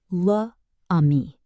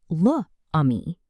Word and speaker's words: l'ami: Instead of saying luh ami, French says l'ami, the friend.